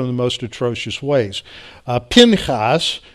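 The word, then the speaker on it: Phinehas: the most atrocious ways pin haas as it's pronounced in the hebrew has two sons Ichabod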